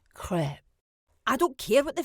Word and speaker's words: crêpe: No, WPC, it's French and pronounced crêpe.